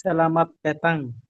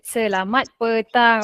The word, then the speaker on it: Selamat petang: How to pronounce this? Selamat petang. Very good. Selamat petang.